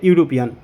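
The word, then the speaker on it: European: ইউরোপিয়ান এখানে দেখো বন্ধুরা ইউরোপিয়ান ই দিয়ে শুরু হয়েছে অর্থাৎ ভাওয়েল দিয়ে শুরু হয়েছে কিন্তু আমরা এখানে এন বসাতে পারবো না কারণ কি এখানে দেখো ই এর উচ্চারণ শুরুতেই হয়েছে ইউ যখন কোন শব্দ ই বা ইউ দিয়ে শুরু হবে এবং তার উচ্চারণ ইউ থাকবে তখন আমরা এ আর্টিকেল বসাবো এখানে বন্ধুরা শব্দটি ই দিয়ে শুরু হলেও এখানে কিন্তু শুরুতেই উচ্চারণ হয়েছে ইউ তাই এখানে আমরা এ আর্টিকেলটি বসাবো এরকম আরো কিছু শব্দ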